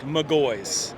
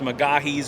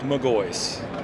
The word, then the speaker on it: McGaughys: your company how do you pronounce MGO it's pronounced MGO you hear a bunch of different ways most people say it's mahes or mwis but it's pronounced MGO well that sounds pretty simple not m mwis